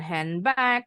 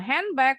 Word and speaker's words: handbag: goodby Nah contoh lagi bacanya bukan handbag kalau yang bilang handbag pasti bukan speaker ini d-nya pasti silent n-nya berubah bunyi enggak mengikuti bunyi B berubah bunyi jadi m sama ya kayak